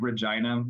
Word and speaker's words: Regina: I would still say that Regina is pronounced as Regina. That's how the majority of people from the city say it. And that is the current pronunciation.